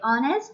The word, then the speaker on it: honest: Article N is also used where H is silent. For example, an honest man. We don't use the word sound H, honest. We say honest, not honest.